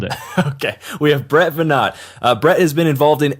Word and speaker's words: Veinotte: Get stoked because today on the show we have Brett Veinotte. I pronounced that correctly, right? That was perfect. You nailed it. Okay. We have Brett Veinotte.